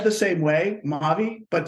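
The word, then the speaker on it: Mavee: So said the same way, Maavee, but spelled M-A-V-E-E.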